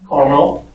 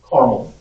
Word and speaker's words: caramel: Caramel. Caramel. It depends. The red areas or the pink, the front of the pinkish, you have 2 syllables, caramel. With 3 syllables, we're going towards the east.